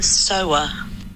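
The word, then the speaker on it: Sawa: said, Becky, freaking out, do you know how to pronounce Devon S-A-W-A? And so I have a recording of her saying it. Oh, I love it! Yes! So... Devon Sower. Oh! Sower.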